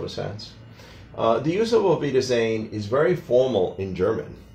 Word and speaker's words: Auf Wiedersehen: originally came from German, the W sometimes is pronounced a little closer to a V in English. So that's why we say Auf Wiedersehen.